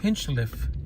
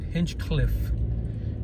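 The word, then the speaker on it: Hinchliffe: so among the pronunciations one of them is hinchliff Stadium people and and me included up until a certain time I would call it hinge cliff and there's the library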